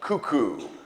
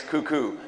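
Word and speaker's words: Kuku: So cuckoo is spelled K-U-K-U, and it has nothing to do with birds, clocks, Cocoa Puffs, or crazy people.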